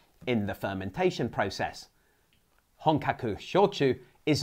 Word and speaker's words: Shochu: By the way, Shochu is not pronounced Sochu or Soshu. Both H's are required. The word in Japanese is Shochu, but it's anglicized to Shochu, like Shogun or this guy.